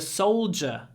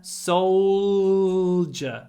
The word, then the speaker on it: soldier: correctly I was a soldier for 10 years soul soldier soldier it's a j sound I know it's a d but we say J Soldier and try to get